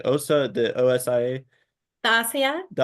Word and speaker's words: Osia: getting the new, I don't know how to pronounce, like OSA, the OSIA. The Asia? The Ossia, there it is, that implant.